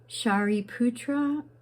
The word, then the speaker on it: Shariputra: Shariputra was a principal disciple of the Buddha.